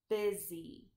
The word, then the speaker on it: busy: is and then the Y is making the long e sound busy you are busy when